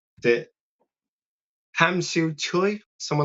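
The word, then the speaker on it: Tsui: The Hamsu Choi someone like that. Someone who's been there will know how to say Choy. Yeah. Spelled with a T but Choy.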